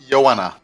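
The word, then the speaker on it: Ioanna: the Trisha is 14 for Greek you stress the second you generally stress the second syllable of the name okay so Valentina would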